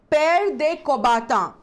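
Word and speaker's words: Pierre de Coubertin: जी हाँ, फ्रेंच नाम है तो जरा लिखा किसी और तरीके से जाता है और प्रोनाउंसिएशन, उसको बोलने का तरीका कुछ और होता है.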